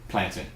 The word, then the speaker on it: plantain: things wrong okay because anything that spells t a i n and is a noun has a short a captain fountain mountain planting okay all right that's